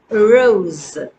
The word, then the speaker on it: rose: Rose. Rose. Rose. And see, no, that S is actually pronounced as Z.